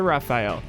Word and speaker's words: Rafale: It's a Rafale.